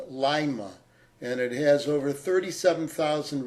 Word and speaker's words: Lima: next city in Ohio we are told it's pronounced Lima and it has over 37,000 residents and we're